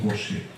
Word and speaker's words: Gauchet: Marcel Gauchet se escribe, Gauchet, Marcel Gauchet se pronuncia, ¿no?